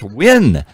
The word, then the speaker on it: Nguyen: on the station when you see nulan it's win don't you know how to pronounce Vietnamese names Dr Tren here H you are more Vietnamese than I new Yen new Yen but yes it's you're like totally